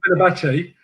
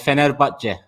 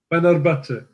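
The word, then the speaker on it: Fenerbahçe: Well, before we do that, I just want to get this pronunciation of Fenerbahce right. Because we all say Fenerbahce, and that must be painful to your ears the way you pronounce it.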